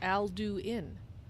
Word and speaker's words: Alduin: voice really that's why Alduin spoke his name as if it was three syllables Alduin but why would he